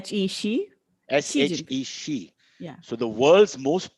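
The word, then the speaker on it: Xi: it's so how do we how do we pronounce it through the english phonetic she like s he she see she yeah so the world's most powerful leader bar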